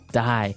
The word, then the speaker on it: dye: Dye. So it's pronounced exactly the same way as, you know, to dye to not live anymore.